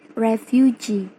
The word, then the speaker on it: refugee: For example, in the word refugee, that comes from a word refuge plus e as suffix. In the word refuge has a primary stress in the first syllable. Kemudian, mendapatkan imbuhan i menjadi refugee, primary stressnya pindah ke suffix, yaitu g. Dan kemudian terdapat secondary stress on the first syllable, ref.